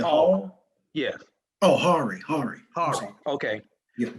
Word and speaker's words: Hari: Um, how do you pronounce his first name, Coach? Mr. Hall. The one you said, Okay, that's you said Hall. Hall. Yeah, Oh, Hari.